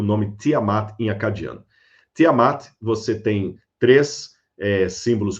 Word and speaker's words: Tiamat: Tiamat, você tem três eh símbolos comiformes, três sílabas aí. Primeiro, o asterisco é dinger, você não pronuncia, é apenas um determinativo para significar deus ou deusa.